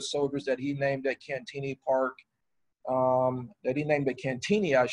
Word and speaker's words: Cantigny: been out here and if you speak french you know we don't pronounce it the french way we do pronounce it cantini uh but in the